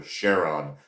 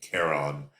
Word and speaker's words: Charon: The largest moon being named Charon or Charon, depending on how you want to pronounce it. It begins with a C, so I like to pronounce it Charon.